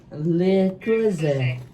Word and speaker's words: Le Creuset: Le Creuset.